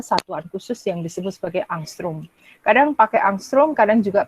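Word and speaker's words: ångström: dengan panjang gelombangnya 800 ini bacanya angstrum Ya angstrong satu Armstrong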